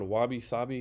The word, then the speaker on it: wabi-sabi: I'm gonna say her name wrong. It was Dr. Claire Yeah. Sucio, Yep. and I think it's called Wabi Sabi.